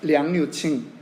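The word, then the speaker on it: 杨柳青: 그런데 제가 살았던 곳에 천진이라고 하는 곳에는 그 외곽에 어떤 동네 이름이 있냐면 양류청이라고 하는, 중국어 발음으로 하면 량류칭, 량류칭이라고 하는 그러한 도시가 있습니다.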